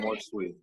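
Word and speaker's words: amor sui: Amor sweet. Is that how you say it? More sweet. Yeah, more sweet. It's Latin. Yeah.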